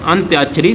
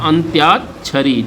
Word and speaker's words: अंत्याक्षरी: अंत्याक्षरी सही शब्द है। आ आधा ना आधा ता या, अंत्याक्षरी, छ रा पे बड़ी ई की मात्रा री, अंताक्षरी।